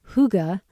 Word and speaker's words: Hygge: Spelled Hygge and pronounced Hygge, the word is said to have no direct translation in English.